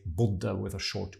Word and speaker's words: bodde: Jeg bodde. The idea is that whenever you have a double consonant, then something gets short in Norwegian. So we would say å bo, and then we would say bodde with a short u.